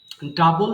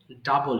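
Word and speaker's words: double: করা discover discover discover ডাবল দ্বিগুণ করা ডাবল ডাবল ডাবল এটা অনেকে ভুল করে ডবল বলে উচ্চারণ হবে কি ডাবল মানে দ্বিগুণ করা ডাবল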